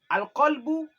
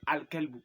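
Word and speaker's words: القلب: Alqbou et alkelbu. Au lieu de dire albou, tu dis alkelbu. Alcbou ça signifie le le cœur et alcalbou ça signifie le chien.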